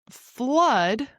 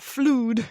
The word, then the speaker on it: flood: So, flood. Flood. It rhymes with blood. So, not fluid, it's uh similar to love, ugly, umbrella, flood, blood.